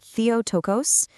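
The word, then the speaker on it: Theotokos: It's a Greek word pronounced theotocos and it means godbearer or to put it more simply mother of god.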